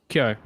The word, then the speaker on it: Kyo: Kyo. It's Kyo. one syllable.